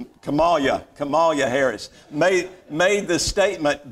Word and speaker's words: Kamala: pro-death candidates the the vice president uh miss camilla harris made the statement i said it wrong kamala kamalia harris made the statement that it's not